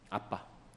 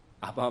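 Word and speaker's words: אבא: 받으시도록 그니까 아버지라고 표현하신다 아람어 아빠입니다 우리나라하고 똑같아 발음이 아빠 아버님 아바 마마가 아니고 아빠라고 해요 아빠 그만큼 하나님과 우리와의 관계가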